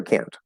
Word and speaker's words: can: And we'll have to ask for clarification, like can or can't. That happens. But again, generally, can positive will be reduced, and can't negative will